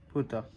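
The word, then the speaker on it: 二: टू की ओनियोमी में इसका प्रोनाउंसिएशन है नी और कुनियोमी में है पुता तो बस आज के लिए आज के वीडियो के लिए इतना ही था।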